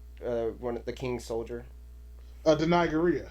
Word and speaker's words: Danai Gurira: Danai Gurira. Danai Gurira. That's how you say her name.